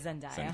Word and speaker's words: Zendaya: It is Zendaya.